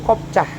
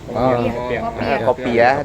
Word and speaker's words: kopiah: Untuk kelas du itu kopcah. Kopcah itu peci haji. Kopiah. Di sini mah kopcah namanya ya. Heeh. Beda, beda pelafalan saja ya. Intinya kopiah.